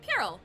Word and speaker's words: puerile: Puerile. Okay. Puerile. That's how you pronounce it.